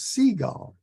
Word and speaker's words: Seigel: uh um I I asked uh I asked him how he pronounces his last name and he answered like the birds seagull and I think that's